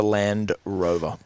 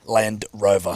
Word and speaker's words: Land Rover: Rover the black was you need to pronounce the d cuz it's a Land Rover Land Rover Land Rover not a land no